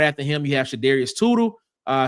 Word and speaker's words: Shadarius: Uh then right after him you have Shadarius Toodel. Uh I spelled his name wrong. It should be sh not Sudarius. That's Shadarius.